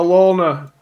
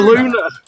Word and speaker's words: Luna: I work in the vape industry now, so I've got, and I mispronounced it, and I've been there over 3 months. That's fucking God. It's a Luna.